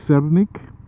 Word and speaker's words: sernik: In Polish, I think it's pronounced sernik, S-E-R-N-I-K.